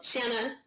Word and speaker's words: Shanna: Warrenton Georgia and um the best way to pronounce my name mom I have to tell people this a lot uh Shanna Shannon banana that's the pronunciation um so Shannon shine